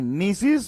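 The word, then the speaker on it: gneiss: rock is called as NIS is called as NIS the pronunciation should be NIS but the spelling is GN SS i s is called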